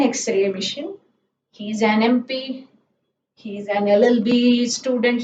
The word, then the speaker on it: MP: Then for abbreviations like MP, an MP, MP, M. So the M, whenever you say, it is EM, M, isn't it?